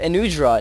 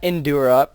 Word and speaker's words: Enudra: sweet um and also the enudra not endura please guys pronounce this correctly um the innutra set